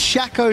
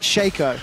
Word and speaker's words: Shaco: It's pronounced Shaco, not Shaco.